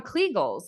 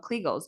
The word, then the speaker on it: Kegel: Okay, so And I'm still listeners, back on kegels. So, just is that a good definition though of kegels?